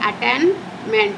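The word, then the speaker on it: attainment: है फिर हमारा दूसरा अटेंटमेंट अटेनमेंट अटेन देखिए अटेनमेंट प्रोनंसिएशन ध्यान रखना कभी-कभी मेरे आवाज भी आप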